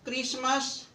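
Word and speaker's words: Christmas: हुआ है H silent जब भी किसी शब्द में सी या डब्लू के बाद एच आए तो एच साइलेंट होता है केमिस्ट क्रिस्मस क्राइस्ट वीट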